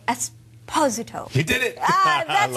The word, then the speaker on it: Esposito: being here pleasure and I meant to say esposo he did it that's how this name should be pronounced thank you again you've been in the